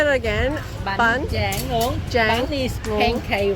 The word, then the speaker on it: Bánh tráng nướng: Bánh tráng nướng.